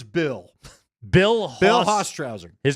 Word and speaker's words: Bill Hostrouser: But I'm going to show you what the pronunciation guy told me right there, and you could see it too. HOSE-TRAWSER.